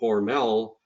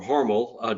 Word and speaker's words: Hormel: And then last but not least, I want to pay homage to Hormel, or Hormel, depending on how you want to pronounce that.